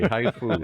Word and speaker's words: HIFU: And HIFU is just like it sounds, H-I-F-U. Just like the Japanese spell it, yes. Okay. It's not a haiku, it's a HIFU here.